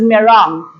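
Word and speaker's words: meringue: we pronounce this m-e-r-i-n-g-u-e as but the proper pronunciation of this is merong the dried eggs are used primarily as ingredients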